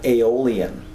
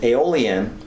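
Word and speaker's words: Aeolian: And all these notes are derived from the true minor scale which is also called aolon. Okay? And that's spelled a e o l i a n. And aolon is a mode.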